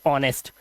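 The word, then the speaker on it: honest: जैसे कि यहां पर एक वर्ड है ईमानदार को हम बोलते हैं एच ओ एन ई एस टी ऑनेस्ट। यहां पर ओ से पहले आया एच साइलेंट।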